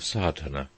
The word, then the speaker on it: Sadhana: about the pronouncing of sadhana the accent falls decisively on the first a which has the broad sound of the letter chapter one the relation